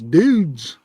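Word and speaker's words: Doods: D-O-O-D-S, dudes. Is how you pronounce it.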